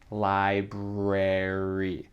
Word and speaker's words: library: Ok, donc le mot library. Le son R, c'est vraiment comme ça dans la bouche. Il faut exagérer parfois pour bien prononcer ce son.